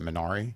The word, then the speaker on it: Minari: Is it Minari?